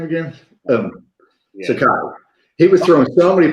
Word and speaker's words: Sakai: How do you pronounce his name again? Sakai.